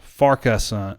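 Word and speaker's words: Farquharson: now and jeremy says it's pronounced farkasan farkasan farkasan farkasan jeremy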